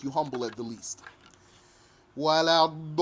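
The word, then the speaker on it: ولا الضالين: Wala-dallin. Double the lam. Wala-dallin. And stretch that vowel sound at the end.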